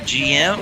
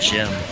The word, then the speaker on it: GM: Okay, is it GM or is it Jim? It's pronounced Jim in Japanese.